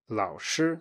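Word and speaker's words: 老师: memorized another word laosher Lao sure so this is your memorized word for a third tone plus first tone and you're really good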